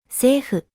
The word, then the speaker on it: セーフ: セーフ、 Again, remember to avoid the F sound and instead pronounce it with the hu sound. Additionally, end with a vowel sound, so emphasize the final vowel sound as well.